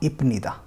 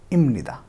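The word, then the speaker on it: 입니다: सो इसका pronunciation reality में होगा इमनिदा, नॉट इपनिदा, इमनिदा। ओके, इमनिदा। अगला देखते हैं एग्जाम्पल।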